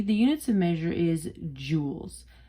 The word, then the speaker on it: Joule: after him all right this is pronounced just as if we're talking like like jewelry jewels okay units the measure